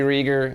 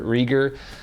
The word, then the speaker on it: Reger: joeyreager my Instagram's Joey Rieger and that's r-e-g-e-r it rhymes with eager so it's eager Rieger also don't forget to